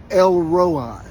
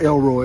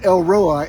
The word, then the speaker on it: El Roi: It's not Elroy like on the Jetsons. His boy Elroy. No, it's El Roi, and it means the God who sees.